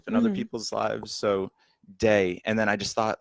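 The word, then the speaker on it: Dae: What made you choose Day, which is spelled D-A-E?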